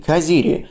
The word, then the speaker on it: Caziri: The letter "z" ("dzeta") in this word should be pronounced /t͡s/, like the Italian "z" ("dzeta").